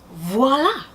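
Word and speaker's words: voilà: But it is V-O-I-L-A. Voila, or voila, but definitely not W-A-L-A, even though it may be pronounced that way.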